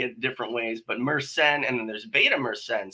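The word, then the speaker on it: myrcene: penal Myers scine or that's an interesting name because it's said wrong and I say it wrong as well meren is the way it's supposed to be said so meren sounds very French we so yeah but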